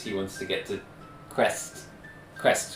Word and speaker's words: Krezk: So Darian's obviously getting more and more anxious because he wants to get to Crest, right? Krez. Crest. It's spelled Krezk.